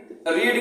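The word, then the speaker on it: read: इज रीड का देखिए third form spelling वही रहेगा, केवल इसका उच्चारण बदल जाएगा, इसको रेड पढ़ेंगे लेकिन स्पेलिंग सेम रहेगा।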